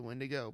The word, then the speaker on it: Wendigo: And I was just like, guys, it's pronounced the Wendigo, but yeah, that scared the crap out of me.